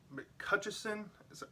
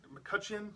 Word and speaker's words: McCutcheon: person who directed it mccutcheson mccutcheon is how you say his name don mccutchen did a